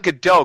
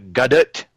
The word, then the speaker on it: Gadot: got it or good it's not good dough cuz she's Israeli no you know I was working on this pronunciation I was talking to Erin Aussie earlier and he he gave me the correct pronunciation because I thought it was good dough and he said no it's gut it I think it's good